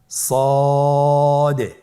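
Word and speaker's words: ص: সদ হরফটি পুর হরফ। মোটা হরফ উচ্চারণ ক্ষেত্রে মোটা করে পড়তে হবে এবং উচ্চারণ করার সময় তিন আলিফ টেনে পড়তে হবে। আপনারা আমার সাথে বলুন সদ আবার বলুন সদ।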